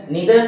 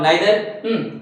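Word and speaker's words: neither: डिस्ट्रीब्यूटिव्स का मतलब यहाँ पर जो है इसके अंदर हम पढ़ेंगे आइदर, नीदर, आइदर, इधर, वी can both pronounce it, pronounce आइदर और इधर, नीदर और नाइदर, ईच और एवरी इसमें पढ़ेंगे।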